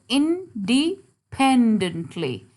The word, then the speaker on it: independently: Now look at the third syllable. Independently. Now this is where we are going to put the stress mark.